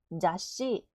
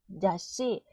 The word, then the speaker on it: 雑誌: 잡지는 자, 윽, 시네, 자씨, 자씨.